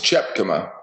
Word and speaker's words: Chepkema: It's Chepkema. It's Dutch. You put a CH in the front there. Chepkema.